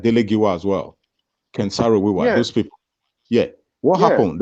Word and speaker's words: Ken Saro-Wiwa: Ken Saro-Wiwa. Yeah. Abacha, he was complaining and campaigning about the spilling of oil. Dele Giwa as well. Look at people like Dele Giwa as well. Ken Saro-Wiwa.